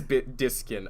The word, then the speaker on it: Diskin: Oh, it is Diskin. Okay, I was worried that I was saying your name wrong this whole time.